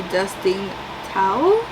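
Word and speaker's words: Dustin Thao: It is called you have reached Sam by Dustin towel that's how you say it I picked this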